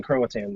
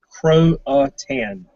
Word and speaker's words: Croatan: she was probably in Croatan then. What You is can it? always move later. You can always move okay. later. Okay, so wait, what is it now? Croatan is how it's pronounced.